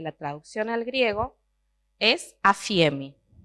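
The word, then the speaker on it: ἀφίημι: traducción al griego es afiemi con ph, pero se pronuncia afiemi.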